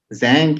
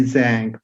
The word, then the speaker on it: Zhang: Zhang, is it the right? How you pronounce it? Zhang, you got it, man.